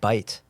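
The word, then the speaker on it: בית: and I said well how do you pronounce that and he said he said bite and I had bitten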